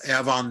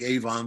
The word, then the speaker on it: Avon: south of rochester to avon new york looks like avon but it's avon take my word for it and we spun this